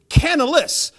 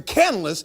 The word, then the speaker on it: Canales: and for some reason i always thought it was canalis yeah i just learned that in the last 24 hours so i'm making fun of myself and i apologize to canales for saying your name